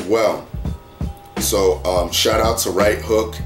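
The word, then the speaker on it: Rite Hook: So shout out to Right Hook, even though it's spelled R-I-T-E, and it's Right Hook.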